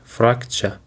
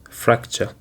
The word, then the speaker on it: fracture: today is fracture, and it is pronounced like this, fracture. It is actually have 2 syllables, frac and cha, and the stress is on the first syllable, fracture. It is just like picture or structure.